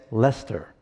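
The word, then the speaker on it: Leicester: it's called the Codex Lester I know that sounds like a different word but that's how they say it in England Lester and it is actually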